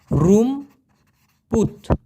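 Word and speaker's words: rumput: তো এই লালাং মানে হচ্ছে মূলত সন আর রুমপুত যদি বলা হয় রুমপুত আর ইউ এম পি ইউ টি উচ্চারণ হবে রুম পুত রুমপুত এই রুমপুত মানে হচ্ছে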